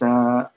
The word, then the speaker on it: Romijn: It's Romijn. J is silent.